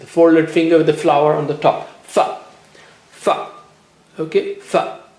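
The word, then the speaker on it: ف: Fa. Fa. Okay, fa. How do you say fa? Touch the lower lip to the edge of the upper teeth.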